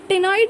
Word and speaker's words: ctenoid: टेनॉइड में फिर देख लो सी है ना, सी साइलेंट है, CTENOID।